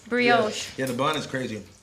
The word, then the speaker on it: brioche: How do you pronounce this? Brioche? Brioche. Brioche.